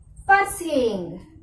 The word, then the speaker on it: pursuing: I will pronounce these words. All of you listen carefully. Okay? Pursuing.